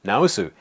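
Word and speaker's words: 治す: For example, this is pronounced naosu.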